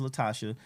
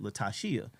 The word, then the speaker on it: Latasha: our adult years that her name is actually pronounced latasia she found that out in her adult Years cuz my mama finally told her it's latasia that's like my sister